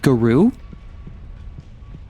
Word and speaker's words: Garou: Which apparently, Garrow is pronounced Garou. According to like one of my French viewers.